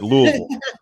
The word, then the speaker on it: Louisville: coach yeah is that how they say it Louisville yeah that's right there that's right Louisville Louisville no um I think the reality for